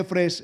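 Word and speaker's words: אפס: La palabra efes se pronuncia efres en hebreo.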